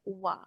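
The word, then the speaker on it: は: Tapi kalau dalam partikel kita bukan baca H melainkan wa.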